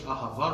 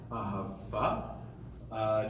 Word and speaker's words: אהבה: So the first one is more the Ashkenaz old school pronunciation, non-modern Israeli.